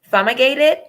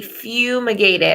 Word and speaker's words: fumigated: IG a te d I pronounce it sama gated so I'm gonna press this pronunciation button they thought fumigate so that would be fumigated I said fum my gate it's fumigated and then the definition